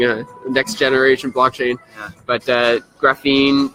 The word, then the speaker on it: graphene: What is graphene blockchain technology? Did I pronounce it right? Yeah, graphene.